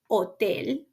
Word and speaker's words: hotel: highlight that it's um it's mute it doesn't have a sound in ESP just um um like in these examples here we have the word otel ospital can you guess the